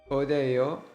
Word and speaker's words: 어디예요: 화장실 어디예요? Your pronunciation is solid, but we can refine one part. The "어" sound in 어디예요 should be smooth and clear.